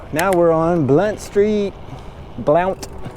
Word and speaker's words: Blount: we're on blunt street blount it's spelled lamp but it's a blunt let's go down here